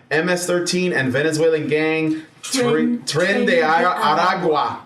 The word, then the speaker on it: Aragua: According to his inaugural address, Central American MS-13 and Venezuelan gang tren Aragua Aragua, you got to roll your Rs.